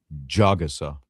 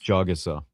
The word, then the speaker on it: Jagusah: Jagusah. I'll just say Charles. Jagusah. It's not that hard. Come on, you can do it. Jagusah.